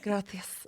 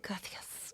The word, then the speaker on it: gracias: used to say like, gracias. And we're like, what are you doing? And it's how you pronounce it, gracias. Kind of like, Gracias. Yeah. The C's and the Z's.